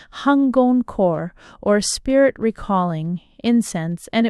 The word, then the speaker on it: Hangon-kō: It was called Ewan Huan Juan by Japanese pronunciation hungon core or spirit recalling incense.